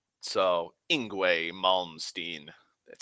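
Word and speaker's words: Yngwie: Isgramor, and it's a Y, so I know that Y's are, and in Tolkien's languages, Y's are usually pronounced as an I. And so I assumed that the IE at the end was pronounced A.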